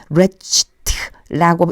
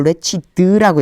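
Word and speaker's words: wretched: 레치ed트라고 읽지 않고 레치드라고 읽어요.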